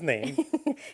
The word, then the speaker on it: Naim: I'm confused, but no, it's Hello, my name is Naim.